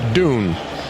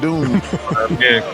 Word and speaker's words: Dune: Timothy Shalamé, it's Yeah, it's Dune. Chuck. Oh, I knew it. I just It just sounded better when I said Doom.